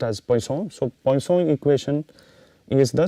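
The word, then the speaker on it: Poisson: pronunciation is uh not poison it is poon it is it is a French name it is pronounced as poone so po equation is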